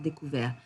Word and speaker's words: découvert: Okay, so ouvert, offert, souffert, découvert. And please do not pronounce that T at the end.